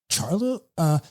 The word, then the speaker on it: Charlo: I like saying his name better as Charlo, actually. It's kind of like, and that's correct pronunciation. Charlo.